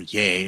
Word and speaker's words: Ye: by Kanye West, or Ye, as he calls himself, even though it looks like Ye, it's spelt that way. Like, oh, rest ye merry gentlemen.